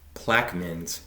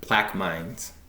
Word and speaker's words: Plaquemines: Thanks to a YouTube commenter for correcting my pronunciation. Plaque men's, not plaque mines.